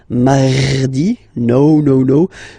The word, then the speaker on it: mardi: You don't need to go too deep like mardi. No, no, no. You don't move your tongue, so it doesn't sound like mardi. No, it's really soft.